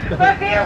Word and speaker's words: Revere: Revere rhymes with here.